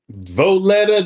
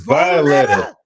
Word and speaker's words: Violetta: I said Violetta. Voletta? No, it's Violetta. It's Violetta.